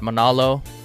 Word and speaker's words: Manalo: spell my last name it's like Mahalo but Manalo or Barry Manilow you know what I'm